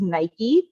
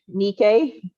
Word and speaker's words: Nike: in this case is nike um nikkei there's a couple different ways to pronounce it um but this is